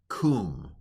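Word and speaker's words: קום: So this word is pronounced kum, all right?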